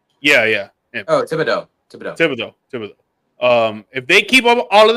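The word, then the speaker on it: Thibodeaux: I always forget how to pronounce his last name, but number 5. Thibodeau. Yeah. Oh, Thibodeau.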